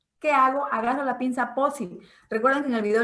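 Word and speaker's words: Pozzi: Busquen cuál es la pinza POSI. Se escribe P-O-Z-Z-I.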